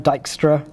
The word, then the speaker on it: Dijkstra: And just to quote, let me pronounce this right, Dijkstra, sorry, I think that's the way you spell it.